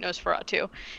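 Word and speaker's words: NOS4A2: the show Nosferatu, and it's spelled N-O-S, the letter 4, the letter A, and then 2, like a license plate, Nosferatu, and it's based on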